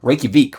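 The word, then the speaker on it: Reykjavík: a little bit of a less interesting one Reykjavik right I think you have to pronounce it like that but okay um actually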